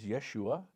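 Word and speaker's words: ישוע: Joshua and Jesus are the same name phonetically, not in English, but certainly in Hebrew is Yeshua.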